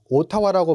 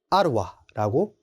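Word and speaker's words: Ottawa: 오타와라고 말씀을 하시면 안 됩니다. 아루와라고 읽어주셔야 합니다. 네, 자주 실수하는 주방기기 혹은 뭐 가전 이러한 품목도 있습니다.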